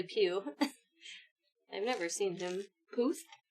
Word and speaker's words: Puth: Puth. Puth.